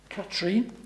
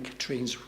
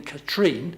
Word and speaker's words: Katrin: years I've been saying Katrin's name incorrectly. I always put the emphasis on the second syllable, but it should be on the first syllable. So instead of being Katrin, it should be Katrin.